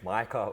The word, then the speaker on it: Micah: Different angle than the other time when I was with the main man Victor.